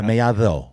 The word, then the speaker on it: Mellado: Mellado is in Spanish. See? Yeah, that's what I'm saying. That's the correct pronunciation. Yeah, Mellado. Yeah. So the D's like a T. It's pronounced like a TH.